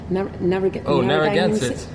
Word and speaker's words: Narragansett: I can't pronounce that one. Narragansett. Yeah. Narragansett.